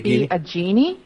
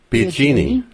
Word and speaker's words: Biagini: It's actually Biagini. Biagini. Yeah, okay. It's Italian.